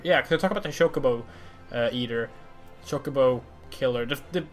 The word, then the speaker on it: chocobo: in foul fantasy I didn't know chocobo was pronounced chocobo and the reason why is because I'm Swedish